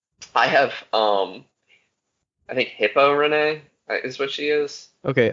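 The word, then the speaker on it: Reneigh: Okay, I have Renee, but the It's Nay it's is R spelled E N E E. Yeah. the Nay is spelled Neigh like a horse, and she's a horse.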